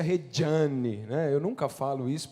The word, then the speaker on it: Regiane: Aliás, pode chamar de Regiane, mas ele se pronuncia Regiane, né?